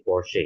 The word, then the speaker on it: Porsche: Nah, jika CH-nya ya di sini posisinya bertemu dengan huruf E seperti ini, jangan dibaca po ya, tapi dia menjadi Porsche ya.